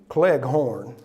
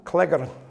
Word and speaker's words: Cleghorn: If I had taken my mother's surname, which is also Scottish, the way that it's spelled is Cleghorn. Yeah, you're working that out, aren't you? And in Tennessee, Cleghorn. But in Scotland, Cleghorn.